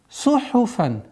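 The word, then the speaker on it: صُحُفًا: Сухуфан. Здесь обратите внимание. Сад – свистящий звук. Ха – гортанный, фа – фрикативный. Сухуфан. Легче произносить сухуфан, но нужно обращать максимальное внимание, чтобы было сухуфан, сухуфан, сухуфан.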